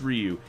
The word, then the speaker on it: Ryu: were you ever like it's raw you idiot like no it's Ryu and now they can